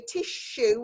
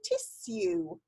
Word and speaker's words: tissue: So really, quite often we say tissue with a sh in the middle. But if you're the queen and you talk properly, you say tissue.